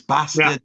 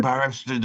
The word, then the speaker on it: bastard: You know it's bastard. You were going barasted or something like a like a Cornish pirate.